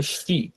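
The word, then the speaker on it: し: তারপরে আমরা আসি, দেখেন এটা সাইয়ের পর আমরা যেটা বলেছিলাম এটা সি হবে না, এটা হবে শ্রী। এটা দেখেন ইংরেজিতে লেখাই আছে SHI, শ্রী, হ্যাঁ। তো এটা হবে এভাবে একটাই দাগ, হ্যাঁ, শি।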